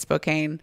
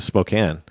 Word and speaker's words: Spokane: I wonder if he actually went to Spokane. Maybe. Spokane. I always say Spokane. Spokane. Yeah. It looks well, he might have said Spokane because it rhymes with cocaine.